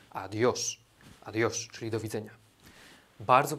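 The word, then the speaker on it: adiós: Uczulam Was, żebyście nie wymawiali tego adios, gdzieś tam w kreskówkach może tak się pojawiło, natomiast jedyną opcją poprawną wymowy jest adios.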